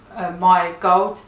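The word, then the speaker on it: Mai Gold: my gold into Danish it's pronounced as my gold m-a-i space gold um I want to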